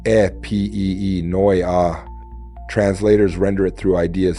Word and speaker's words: Epinoia: Epinoa pronounce it e p e noi a translators render it through ideas such as insight, reflection, intention or awakened thought.